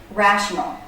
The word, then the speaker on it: rational: Stress on the first syllable. Rational. Da-da-da. Da-da-da. One way to practice as you're working on word stress is to break up the syllables. Practice stressed and unstressed syllables separately. So, rational. Ra. Ra. The stressed syllable. Notice how the voice goes up and down in pitch. Ra. That's the shape of a stressed syllable.